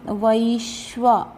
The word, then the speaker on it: वैश्वा: अहम वैश्वा, वै वे नहीं, वै आई की मात्रा, वैश्वा नरो भूत्वा प्राणी